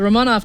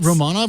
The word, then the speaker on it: Romanov: So, is it Romanov or Romanov? It was a British person who was doing the I think Romanov is the way I was taught it. But they it pronounced could it just be Romanov the whole time, and I was like,